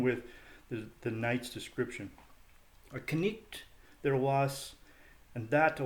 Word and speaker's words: knight: The first is the knight, pronounced the knicht in Middle English.